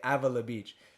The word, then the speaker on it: Avila Beach: this was in uh avila beach and if you're from avila beach i don't care how you say it they say avala beach you guys are saying it wrong i don't care but